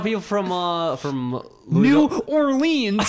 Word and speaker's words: Louisville: You know, it's like how people from Louisville.